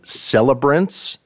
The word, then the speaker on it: Celebrants: And Nickel Creek back in action with the new album Celebrants. Is that the correct pronunciation?